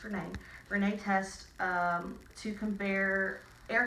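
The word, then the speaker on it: Rinne: Looks like Ryan, it's pronounced Renee.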